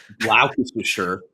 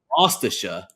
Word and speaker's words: Gloucestershire: They had a problem with how you pronounced Gloucestershire. Oh my lord! So this is what they say in the UK. They say No way. Gloucestershire.